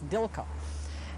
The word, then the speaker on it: Dilco: company maybe but anyway it says DICE which to when I pronounce that it's Dilka anyhow those were some